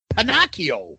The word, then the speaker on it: Pacio: Pacio. Say it wrong. Pakio, right? Panakio. Yeah. Hard C. It's not a sh.